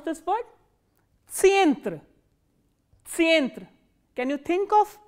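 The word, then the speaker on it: центр: And how will you pronounce this word? Tsientre.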